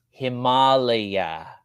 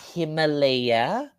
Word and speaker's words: Himalaya: in Asia, in India, it's pronounced Himalaya, not Himalaya, not that ugly Himalaya. It's Himalaya.